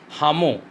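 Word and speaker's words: Lhamu: Now that we were leaving Ravu, Hamu, L is silent, said she wanted to give me a farewell present.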